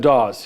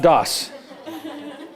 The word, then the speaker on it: Dawes: there i think william dawes yeah how do you spell that again not dos that's d-o-s-s this is d-a-w-e-s dawes so let's examine the